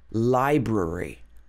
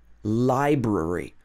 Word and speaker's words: library: So you might even say this is not wrong anymore because a lot of people say it like that. But strictly speaking, library. I'll meet you outside the library. Library. So it's got 3 syllables.